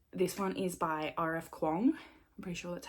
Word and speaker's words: Kuang: Kuang. I'm pretty sure that's how you pronounce it, who wrote like Yellow Face and, you know, the Poppy War and all that.